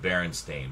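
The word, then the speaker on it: Berenstain: Well, it was pronounced Baronstein, but it was it was definitely spelled with an E.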